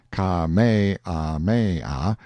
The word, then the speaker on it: Kamehameha: I heard afterward that the comfortable, easy-going King Kamehameha, pronounced Ka-me-ah-me-ah, the fifth, had been seen sitting on a barrel on the wharf the day before, fishing.